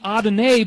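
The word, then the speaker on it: Adonai: Diana no it's because it was saying adenae but they didn't know how to spell it so they spelled it odd in a right odd in and then the letter A so that's that's the word that normally is spelled a-d-o-n-i a-d-o-n-a-i which is actually the Lord God in Hebrew isn't that interesting September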